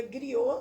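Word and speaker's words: griot: os gringos que é uma palavra francês que a gente pronuncia griô zhu ai que acontece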